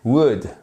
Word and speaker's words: would: vous le dire mais le l ne se prononce pas bon si vous avez